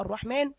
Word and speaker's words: الرحمن: في ألف صغيرة محطوطة فوق السين، يعني تحس إن هي ما بين السين والنون. طيب أنت بتكتبها عادي ما عدا كلمة طبعا اسم الله سبحانه وتعالى الرحمن، لأنها تنطق ألف وتكتب بالمنظر ده بالظبط.